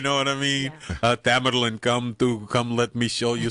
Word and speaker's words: Tamerlan: Tamerlan. Tamerlan.